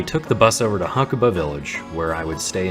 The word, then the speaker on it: Hakuba: about to head to hakuba uh or hakua is probably the more accurate pronunciation apparently this weekend the